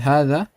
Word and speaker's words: هذا: The ha is stretched 2 counts. It's read like this. However, it's written like this. We omit this alif. After the ha, it's not written. It's only read but not written.